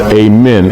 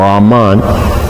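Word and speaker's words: Amun: Sometimes it's pronounced amen or ammon.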